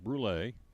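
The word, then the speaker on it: brûlée: They also are featuring at Starbucks inside of Food City's peppermint mocha, caramel brulee. Hope I'm saying it right. B-R-U-L-E, and a little thing on top of the second E. That's French. Brulee.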